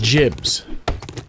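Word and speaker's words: gibs: was asking about the Gibbs now is it pronounced Gibb as with a hard or is it more like a a j sound jibs like jibli so I would know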